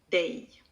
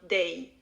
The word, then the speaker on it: dig: Dig. And then we just connect the two into one word with a lot of unstressed syllables before we come to the final one, day.